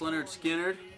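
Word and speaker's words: Lynyrd Skynyrd: Pronounced Leonard Skinner, And Live Bullet, Bob Seger.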